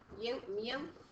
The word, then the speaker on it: mu: Oops, I gave you another at least. Mu. It's pronounced mu. Oh, I thought you said yo. No, mu.